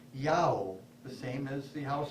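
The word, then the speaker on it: IAO: god spelled in the Bardic letters I-A-O and pronounced Yao, the same as the house of Israel's God.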